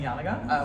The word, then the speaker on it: Janega: some time, at which point everyone was saying YAN-uh-guh.